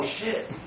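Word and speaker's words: क्षिति: Now, we wouldn't see that in our culture, but really they are using the Sanskrit word for earth, which is K-S-H-I-T, but the K is silent, shit.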